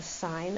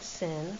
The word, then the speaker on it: sine: So for that part the sign of a please pronounce that correctly.